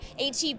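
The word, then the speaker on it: H-E-B: Because I never knew whether you pronounce it Heb. Oh, yep, HEB.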